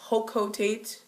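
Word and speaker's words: Hocotate: A lot of people say Hokotate, I don't know why, it's Hokotate, but then again, I don't know, I have to reference the Japanese syllables.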